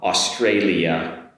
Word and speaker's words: Australia: to work on um Australia compared with Austria. Australia Austria okay? Beginning of course is the same but we've got an “alia” compared in Austria.